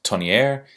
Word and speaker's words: Tonnier: is this particular watch I'm pronouncing this Tony air and perhaps maybe you could pronounce it Tony or maybe if your